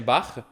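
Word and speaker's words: Bach: exemple vous connaissez Jean-Sébastien barr le ch dans barre ça se prononce comme un re.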